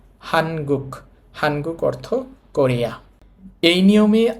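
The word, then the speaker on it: 한국: হানগুক।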